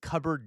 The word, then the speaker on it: cupboard: I think the people from the UK pronounce cupboard differently, don't you?